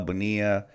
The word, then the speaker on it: Bonilla: Bonilla, and it's however you want to pronounce it. Different people pronounce it different ways, and I don't think there's a wrong way to say it, because you could say Bonilla, Bonilla.